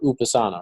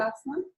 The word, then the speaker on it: Upasana: So your name is pronounced Upasana, right? Is that right or no? Okay. Upasana, Upasana.